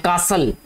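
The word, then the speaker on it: castle: इसके अलावा और कोई वर्ड देख लेते हैं, कासल, सी ए एस टी एल ई, ठीक है बेटा, इसमें जो टी है ये वाला ये साइलेंट है, इसको कासल पढ़ते हैं, ये आपने सुना होगा,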